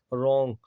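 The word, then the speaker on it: wrong: ठीक है, रॉन्ग, तो डब्लू का यहाँ भी नहीं होगा क्योंकि डब्लू के बाद आर आ रहा है।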